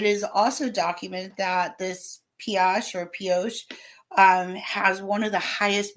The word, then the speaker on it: Pioche: I did look up, you pronounce it Pioche. Okay, thank you. Even though it comes from French, meaning something like pickaxe, they don't use the French like a brioche kind of thing.